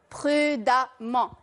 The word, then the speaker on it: prudemment: Je rajoute E, 2M, ENT, et ça me donnera prudemment. Je l'écris E, mais je le prononce A.